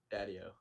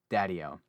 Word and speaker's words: Daddio: last name so i don't emphasize the wrong syllables daddyo daddyo for some reason i want to like emphasize